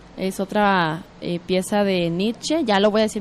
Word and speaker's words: Nietzsche: Dice Luis Gallardo, que se pronuncia Nietzsche con la E al final y no Nietzsche.